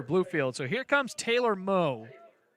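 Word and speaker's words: Meaux: so here comes taylor moe mo spelled like the cajun version as that one spins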